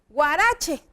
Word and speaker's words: huarache: como je por ejemplo cuando decimos huarache a poco no parece que estoy usando una g o cuando decimos huipil también pareciera que la h adquiere el sonido de la g entonces no podemos decir